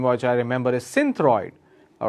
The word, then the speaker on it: Synthroid: which I remember is Synthroid. All right, Synthroid. I can spell it as Cynthroid. That's Synthroid. The other way to pronounce is Sinthroid. Okay, it's again Synthroid.